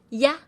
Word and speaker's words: ia: I A pinion is pronounced as Yah. It sounds just like Y A in CA.